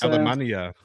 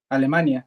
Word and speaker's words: Alemania: Alemania. That's how it's pronounced in Spanish, right? Alemania, yeah.